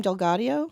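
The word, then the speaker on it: DelGaudio: How do you pronounce his last name? Delgadio.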